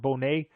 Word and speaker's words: Bonet: Leau and her name is is looks like Bonnet but it's pronounced Bonet.